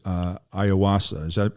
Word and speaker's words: ayahuasca: So I've read about Aaron Rodgers' experience with ayahuasca. Did I pronounce that right, by the way? Is that ayahuasca?